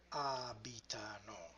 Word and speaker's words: abitano: Loro abitano. And this presents a complication because it's not the third but the fourth to the last syllable.